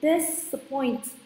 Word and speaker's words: disappoint: Disappoint. Thì this là một cái tiền tố cho là không làm thay đổi trọng âm, nhưng các bạn chỉ tập trung vào từ appoint thôi. Appoint trọng âm 2.